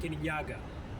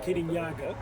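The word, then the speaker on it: Kirinyaga: They said, "Oh, this is Mount Kenyaga." They were like, "Kenya?" They're like, "No, Kanyaga."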